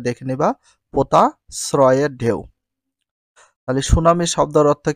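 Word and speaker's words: tsunami: মানে ভাসিয়ে নিয়ে যায় সুনামি সুনামি ইংলিশ বানানটা টি এস ইউ এন এম আই সুনামি এর কোন উচ্চারণ হয় না সুনামি একটি জাপানি শব্দ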